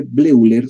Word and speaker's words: Bleuler: Bleuler se escribe Bleuler, se lee Bleuler porque era alemán, ¿no?